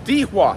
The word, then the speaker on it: Dihua: and we're in Oldtown on dewa Street that's how the taxi driver told me to pronounce it very historical lots of